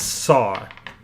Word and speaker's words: SA: Okay, so how you pronounce SA is... I'm glad I don't have to say SA because that can mean something else. So it's SAW, and we're just gonna call it SAW, alright?